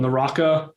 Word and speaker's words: Naraka: They had just a weekend maybe of beta called Naraka, I believe is how you say it.